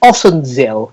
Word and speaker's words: Ossenzeel: So you're in, is it Ossenzeel? Is that the correct pronunciation? Yeah, that's right.